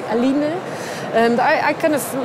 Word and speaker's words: Aline: So I thought A-line is nice, but if the French would pronounce it, they would say Aline.